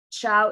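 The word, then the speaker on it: Qiao: Chow is spelled Q-I-A-O.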